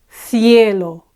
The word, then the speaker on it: cielo: En el cielo, cielo, same thing. Ends with a vowel and it's the penultimate syllable that's the strongest in this word.